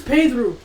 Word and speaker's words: Pedro: Why is his mom abusive? His name is Pedru.